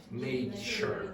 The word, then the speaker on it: nature: Nature.